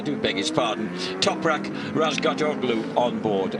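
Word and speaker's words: Razgatlıoğlu: Toprak Razgatoglu on board. Oh, you've told me not to pronounce the G, Julian.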